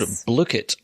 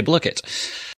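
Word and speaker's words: Blooket: Is that really how you say it? I think that is how you say it, because if you look on their website, rather handily, they have a little button there that says pronunciation.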